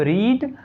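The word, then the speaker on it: read: Verb की third form किसकी, पढ़ना की वर्ब की third form रीड, रेड, रीड। हालांकि स्पेलिंग तो सेम होता है, पर फर्स्ट फॉर्म रीड होती है, सेकंड फॉर्म रेड होती है, थर्ड फॉर्म रीड होती है।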